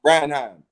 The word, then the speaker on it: Branagh: Branagh.